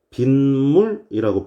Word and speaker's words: 빗물: 그러면 이 녀석 우리가 빗물이라고 발음을 하죠. 없었던 니은이 뿅 생겨난 거 보이시나요? 없었던 니은이 뿅 하고 생겨난 거 보이시죠?